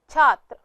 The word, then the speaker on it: छात्र: इसका उच्चारण इस प्रकार है छ, आ की मात्रा, त्र, छात्र।